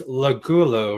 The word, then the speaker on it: Lagulo: And I'm like, wait, how do I pronounce her name again? So, you know, yeah, it's Lagulo, right? It's Lagulo, yeah, Lagulo, and that's Lagulo.